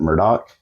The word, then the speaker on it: Murdaugh: Netflix documentary on these Murdo murders I apologize I'm going to say Murdo a lot because that's how it's spelled to me but they they kind of pronounce it Murdoch so I'm going to